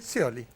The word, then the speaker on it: Scioli: No sé si se dice Scioli o Chioli, no sé cómo se dice. Sí, Scioli. Pañi diría Chioli, ¿viste? Que siempre cambia.